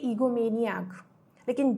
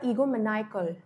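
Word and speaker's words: egomaniacal: तो अब देखिए, अब तक हम इसको बोल रहे थे ईगोमेनियाक, लेकिन जैसे ही AL इसके एंड में लग जाएगा तो अब इसकी प्रोनाउंसिएशन भी चेंज हो जाएगी। अब ये ईगोमेनियाकल नहीं होगा, अभी हो जाएगा ईगोमैनिकल, ईगोमैनिकल। और इसका सिनोनिम हो जाता है मेगालोमेनियाक।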